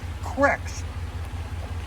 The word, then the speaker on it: creek: I grew up fishing cricks, and yes, they're pronounced cricks.